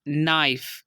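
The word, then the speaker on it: knife: Second example है हमारे पास नाइफ, यहाँ पर भी एन से पहले के आ गया तो इसको हमने साइलेंट कर दिया।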